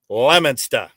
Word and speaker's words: Lemonster: It's not Leo Mister, but it is Lemonster. Like Lemon, Lemon, Stah, Lemonster.